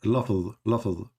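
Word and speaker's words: لفظ: So let me teach you how to say it. Lafz. Sah, yeah, lafz.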